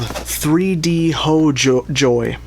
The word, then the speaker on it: 3DHOJOR: and they are called 3D ho joy. I think I asked them how to pronounce it and they said the R is pronounced like a Y and they said ho is like home and so I assume